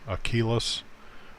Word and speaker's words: Aquila: Aquas uh or achillus I I should probably be pronouncing that as a hard Q or a hard k sound there like a hard q without the u um according to the Greek achillus um the pro light